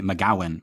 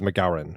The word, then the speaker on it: MacGowran: I'm tempted to just say MacGowan, but there's an R in there. I think on the commentary, I think Friedkin says MacGowran with.